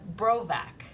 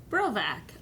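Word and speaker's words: Borowik: is about his name my last name the WI is pronounced as a V and the first o is silent so you say it say it as bro back bro back um so bro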